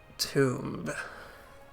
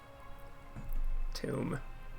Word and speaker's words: tomb: Near an ancient tomb. Tomb. They aren't pronouncing the B.